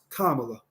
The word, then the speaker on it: Kamala: that her mother named her Kamala and it's pronounced Kamala I'mma give her respect because if she if